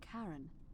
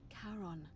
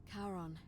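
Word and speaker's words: Charon: it's just as you described it only your pronunciation is a little off the name you heard wasn't karen it was c-h-a-r-o-n caron the ferryman of the dead karon who is exchanged for the right yes figured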